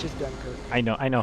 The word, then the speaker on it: Dunkirk: The Dunker Q. Dunkirk. Dunker And, Q. well, it's just Dunkirk. I know how it's actually pronounced.